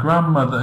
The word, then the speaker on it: grandmother: Yes, grandmother, exactly. D is silent, we don't pronounce.